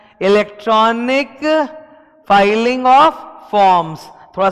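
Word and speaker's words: filing: देखो double L का मतलब होता है फिलिंग, सिंगल एल का मतलब होता है फाइलिंग।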